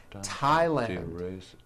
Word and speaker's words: Thailand: spelled with a th they are pronounced as if they were spelled with a normal T like that and these words are Thomas Thompson Teresa Thailand Thames like the river